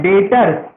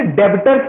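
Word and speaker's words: debtors: पहला होता है डेटर्स। देखो वर्ड क्या है? डेटर्स। कुछ बच्चे इसे डेबिटर्स पढ़ते हैं, वो गलत पढ़ते हैं। इसका प्रोनाउंसिएशन है डेटर्स। जैसे डाउट में बी साइलेंट होता है ना, वैसे ही डेटर्स में बी साइलेंट होता है।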